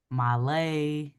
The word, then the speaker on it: Mahlleh: Mahlleh. That's on Instagram, TikTok, YouTube, all platforms. If you can spell it, you can find me. And pronounce it one more again. Mahlleh.